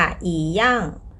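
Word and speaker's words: 一样: ยัง ไง ดี คะ อี บวก เสียง 4 ก็ ต้อง อ่าน เป็น เสียง 2 ค่ะ อี ย่อง อี ย่อง คำ ต่อ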